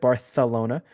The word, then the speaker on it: Barcelona: Next week they're in Barcelona, as Aldis properly pronounced it, Barcelona.